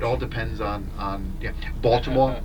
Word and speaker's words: Baltimore: depends on on yeah Baltimore Balmer you know people say Balmer you know so it just it just depends where you're from but yeah Melbourne is